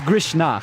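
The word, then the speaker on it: Grishnákh: It is Grishnach, I would say. It's KH at the end is always ch.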